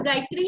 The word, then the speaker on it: गायत्री: अभी गायत्री का भी ना टी है, लेकिन हम तो प्रोनाउंस गायत्री ही करते हैं, राइट गायत्री। आपने भी मतलब THRI लिखा है, तो लेकिन हम प्रोनाउंसिएशन गायत्री ही बोलेंगे, गायत्री तो नहीं बोलते हैं ना। सो वही त का थ जो हो जाता है वो we have to